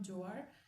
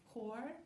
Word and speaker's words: Joar: The relationship between Huar, it turns out I've been pronouncing his name wrong. It's not Joar or Jor, it's Huar, because I heard an YouTuber pronounce his name that way.